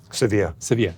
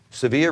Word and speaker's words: Sevilla: So I know that you guys did some work with, I never know how to pronounce it. Is it Sevilla? Sevilla, with the football club Sevilla in Spain.